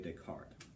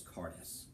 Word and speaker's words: Descartes: dualism that is Rene Descartes the S is silent it's not this cartas mystic heart ugly look